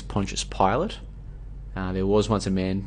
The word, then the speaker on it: Pontius Pilate: Pontius Pilate, which I used to pronounce as Pontius Pilate, but apparently it's Pontius Pilate.